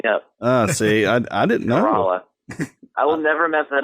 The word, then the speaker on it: Corolla: It's Corolla. Corolla. Corolla is the car. Corolla is the place in Currituck County on the Outer Banks.